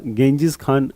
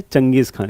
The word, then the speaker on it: Genghis Khan: इंग्लिश में इसका गेंजिस खान नाम आपको लगेगा पढ़ने में, लेकिन इनको क्या प्रोनाउंस करते थे? चंगेज खान।